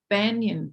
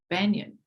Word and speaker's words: banyan: So Veganza Animal Hero has she lives in a banyan tree, and I'm always mispronouncing it. Over here they say banyan, like real American, but I say banyan, whatever.